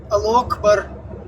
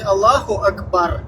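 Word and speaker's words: الله أكبر: И то как-то исковеркано, да, там вот это во время войны Ал акбар, то есть не Аллаху акбар, как это правильно произносится, да?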